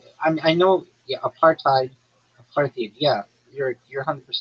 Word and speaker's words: apartheid: And after um after the aparthid period like they started becoming targets.